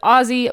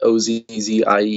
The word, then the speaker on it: Auzzy: I spell it out because everybody normally calls it Ozzie or, like Ozzy Osbourne, but Auzzy Blood.